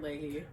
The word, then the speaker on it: Leahy: have my wonderful friend here today mr leahy hello everyone am i saying your name right you aren't saying you're the only one who says my last name right it's because of mr leahy every time i can't say it wrong yeah